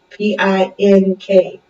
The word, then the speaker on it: Pink: P-I-N-K. Pinky or Pink? Pink.